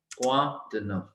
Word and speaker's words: quoi de neuf: क्वा, क्वा, Q means क, ओ आई मीन्स वा. क्वा द नफ. CRFL रूल है, हमने एफ प्रोनाउंस करना है. ठीक है. EU means a, EU means a, so it is nuf, nuf.